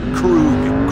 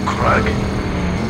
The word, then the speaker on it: Krug: And it's pronounced Krug, not Krug.